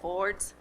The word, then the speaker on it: Ford's: dad who worked at ford's and if you're from detroit that's the correct way to pronounce ford you worked at ford's